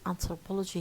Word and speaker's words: anthropology: stressed or distressed uh look at the word anthropology here at the bottom of this slide we find that it has uh um a number of syllables and the stress syllable here which carries primary stress is Po and there is another syllable which is important which is an an anthropology it's important but it's not as important as Po and why it